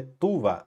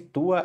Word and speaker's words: tuva: Moopa oimen de tua, onde tuva. O correto seria falar tuva. Esse tua é uma pronúncia coloquial, tá?